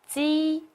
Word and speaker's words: ji: So, ji is unaspirated, while qi is aspirated. A strong release of breath is made when qi is articulated.